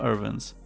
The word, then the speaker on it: URVNS: a 65w gun charger from irvines well that's the pronunciation we're going with as the name is still missing a few vowels i wanted to find